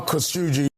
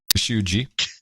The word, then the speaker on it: Khashoggi: Jamal Khashoggi. Khashoggi. And you have an ISO. Who's pronouncing it?